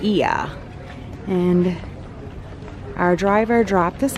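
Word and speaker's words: Oia: so we are here I was saying the name wrong it's not oil it's eeeh even though it is oh I a it's the village of iya and our driver dropped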